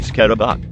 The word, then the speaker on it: Scrab: The scrab, pronounced scarabak, according to this hint, is a majestic-looking cutie patootie with aerodynamic design, perfectly suited for charging like an armored knight.